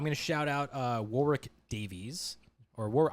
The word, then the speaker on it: Warwick: Um, I'm going to shout out uh Warick Davies or War I always call it Warick Davis, but it might be Warwick Davis. I've been saying it wrong for 30 years.